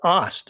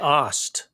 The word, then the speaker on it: Ast: It's Ost, Nick Ost. Yeah, weird pronunciation. Looks like Ast, just spelled A-S-T.